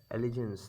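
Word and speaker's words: allegiance: এল ই জি আই এন সি ই এলিগেন্স উচ্চারণ করবে ওকে এলিজেন্স next হচ্ছে কি অ্যামালগামেশন অ্যামালগামেশন মানে হচ্ছে মিশ্রণ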